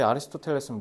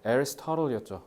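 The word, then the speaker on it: Aristotle: 플레이토 우리 앞에 아리스토텔레스는 뭐였어? 애리스토틀이었죠. 그지?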